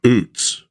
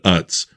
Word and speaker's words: Utz: for their potato chips wait UTS or OOTS Utz pronounced let's get this out of the way now I grew up across the cesu in Lancaster County and everyone everyone in Lancaster said UTS now I get to Handover and people are telling me it's OOTS it's always been OOTS but the company's own ads say UTS I try hard to